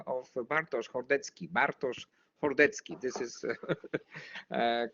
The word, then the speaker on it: Bartosz Hordecki: Bartosz Hordecki. This is correct pronunciation in Polish, okay?